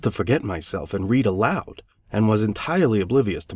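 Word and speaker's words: Locke: did not know that Lo is pronounced in only one syllable till many years after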